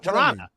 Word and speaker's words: Toronto: I love the histrionics and excellent pronunciation of Toronto. Because the second T is silent.